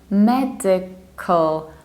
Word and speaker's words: medical: And we don't say cal, but we need to reduce this ending. So we say medical, medical, medical, in both accents, medical.